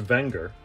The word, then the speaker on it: Wenger: click the link below to skip ahead technically pronounced wenger the company dates back to the late 1800s